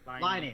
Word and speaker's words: Laine: It's Lane, right? Laine. Line. That's fucking hell. It's spelt Lane, but Finnish, man. it's Finnish, not Swedish.